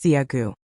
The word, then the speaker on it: Zigu: Zigu, pronounced Ziagu.